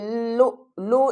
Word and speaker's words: اللؤلؤ: ہے، کامثال اللؤلؤ المکنون۔ دیکھیں جب بھی حمزہ ساکن ہو تو ہم اس کو ہلا کر پڑھیں گے، کس طرح، کامثال اللؤلؤ المکنون۔ لو لام حمزہ